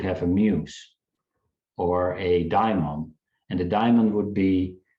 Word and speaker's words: daimon: But he talks about, and I always mispronounce this, but it's the daemon. Is that how you say it? Yeah, it's the daimon. Daimon. I always say daemon.